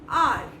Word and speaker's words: our: ये हमारे दोस्त हैं, उसको आर कहते हैं यानी कि OUR, आर। अच्छा, कई लोग इसको आवर बोलते हैं, this is आवर family. आवर वाली प्रोनाउंसिएशन गलत है, तो आप इसको आर बोलेंगे।